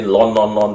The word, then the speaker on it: ln: Last time I also got here keep hearing people say lon.